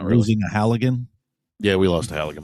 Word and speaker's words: Halligan: Is it not pronounced halogen? Halogen? Like a bulb? It's a Halligan.